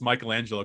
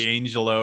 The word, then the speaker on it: Michelangelo: was the bow okay i'm glad you can finally pronounce michelangelo correctly because you were like angelo or something i gotta find another